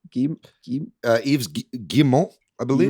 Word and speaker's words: Guillemot: Guillemot? Yves Guillemot, I believe. Guillemot? Apparently it's Guillemot.